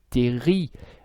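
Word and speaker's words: terril: résidus de charbon un qu'on appelle les terry ça s'écrit terrible mais le elle finale ne se prononcent pas et si vous habitez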